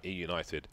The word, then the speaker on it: eUnited: actually tweeted us and said pronounce it how it spell you had it right he united cheers yeah like what